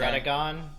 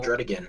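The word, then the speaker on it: Druddigon: That name is weird to pronounce, okay? Dredigon. It's so simple. It's just Dredigon. Yeah. Some people even say Oh, Dredigan.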